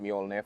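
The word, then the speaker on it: Mjölnir: You see the evolution of the Thor's hammer headlight right here, which is pronounced Mjolnir for those wondering.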